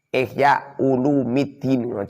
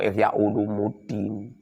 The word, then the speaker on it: Ihya Ulumiddin: kitab, fi ihya'i ulumiddini, ihya ulumiddin, ojo ihya ulumuddin, salah itu. Long ihya ulumuddin, ihya'u itu mudhof, ulumi itu mudhof ilaih. Mudhof ilaih dibaca rafa pernah rajin. Bacanya itu ihya ulumiddin.